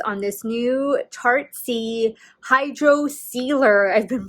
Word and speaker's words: Hydrocealer: been pronouncing it wrong it's hydro sealer not hydro concealer so my apologies on